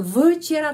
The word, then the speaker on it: вчера: Kalau huruf Y tidak mendapat penekanan, huruf Y pengucapannya I. Itu ada penjelasannya pada video nomor 33. Jadi včera penekanannya di sini berada pada huruf A.